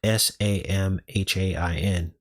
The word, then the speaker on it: Samhain: Now, if you didn't know, Halloween is the beginning of the festival of Samhain. That's spelled s a m h a i n.